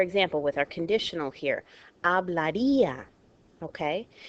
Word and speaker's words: hablaría: Okay, if this did not have an accent, this would be together, the I and the A, and this word would be pronounced hablaría on the second to last syllable.